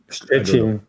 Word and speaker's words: Szczecin: How do you pronounce it in Polish? Szczecin? Szczecin.